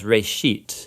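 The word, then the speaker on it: בראשית: of it's called Genesis Genesis comes from a Hebrew word it's pronounced for a sheet and it just means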